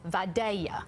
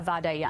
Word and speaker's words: Vidalia: that truly produce a Vidalia Onion so it's pronounced like a why mm-hmm there's my dad